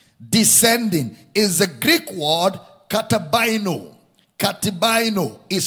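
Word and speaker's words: καταβαίνω: Descending is the Greek word katabaino. Katabaino is spelled as K-A-T-I-B-A-I-N-O.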